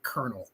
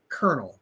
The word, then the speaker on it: colonel: Colonel. Colonel. Colonel. Colonel. So, it's pronounced it's pronounced different than it's written, but Colonel Towner Watkins